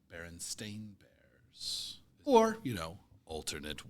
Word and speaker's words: Berenstain: how to spell it almost everybody pronounces it and remembers it it seems Berenstein b-e-r-e-n-s-t-e-i-n but it is s-t-a-i-n Berenstain Bears or you know